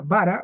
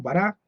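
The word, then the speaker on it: ברא: el hebreo bíblico en la palabra que se pronuncia bara o bará que es crear pero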